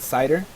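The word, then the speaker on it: CIDR: something called uh we we like to pronounce it cider notation cider uh notation but it stands for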